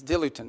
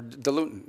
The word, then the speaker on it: diluent: As in In fact, one of the things they need is diluent or diluent, depending how you want to pronounce it.